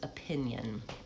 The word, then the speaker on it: opinion: Opinion has second syllable stress. So opinion starts with a schwa. Even though it's letter O, it's an unstressed syllable. Pin, vowel I, pin, and then yun, the I-O, makes kind of a y sound, yun. And there's really almost no vowel, so that's a syllabic N at the end.